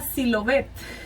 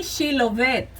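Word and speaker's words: Shibolet: Y si él respondía no, entonces decían, ahora pues di Silobet. Y él decía Silovet. Decía Shilovet. Y él decía Silovet, porque no podía pronunciarlo correctamente.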